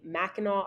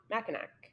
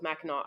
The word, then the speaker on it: Mackinac: pronunciation wise surprise me Mackinac Island and it ends in a c but it's not Mackinac which yeah I definitely